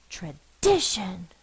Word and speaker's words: tradition: And if you were fussing at your dog, where is the stress? Where do you put the most force in it? You would say, Tradition. This is the stressed syllable. Because this is unstressed, doesn't have as much force as this one, it can be represented by the schwa sound, Tradition. Now this is an open